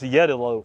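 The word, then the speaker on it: Jeddeloh: we've got Acer palum jeto orange sometime pronounce yalo orange uh jeto orange is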